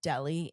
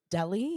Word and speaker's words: Delhi: Speaking of crazy climate change stuff, have you seen what Delhi in India looks like these days?